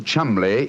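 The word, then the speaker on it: Cholmondeley: Being an American, he had no reason to know that the name Chumbllay is in no way pronounced the way it is spelled.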